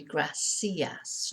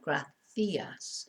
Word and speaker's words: gracias: Some parts of Spain, especially near Madrid, the C is pronounced when it's followed by an I or an E, the. In South America, it is never pronounced this way. It's always pronounced like an S.